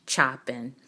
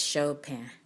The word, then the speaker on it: Chopin: I thought about with Chopin so I know you may say Chopin some people will even say chopping but it's Chopin that's really how you say it I'll show pen by